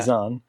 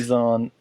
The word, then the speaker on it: Zahn: Timothy Zahn has planned this out to to build that plot through this trilogy.